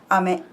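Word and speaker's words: 飴: So, well, today's lesson was ame. Nodo ame. Nodo ame. Throat candy. Okay. Okay, and there's different word but same different pronunciation but same words is ame, which is rain.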